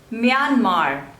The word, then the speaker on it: Myanmar: Mozambique Mozambique next is Myanmar Myanmar two labels and the stress is on the second one Myanmar Myanmar Myanmar next